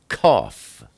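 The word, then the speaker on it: קוף: Kuf is the number 100, and it's pronounced like a K, like kof.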